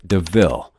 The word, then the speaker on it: DeVille: Horace steals Estella a new car called a Panther de Ville, and points out the similarity to the word devil, though it's pronounced DeVille.